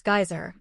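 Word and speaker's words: Geysir: The geyser, a word the Icelanders pronounce geyser and which signifies fury, rose majestically from its summit.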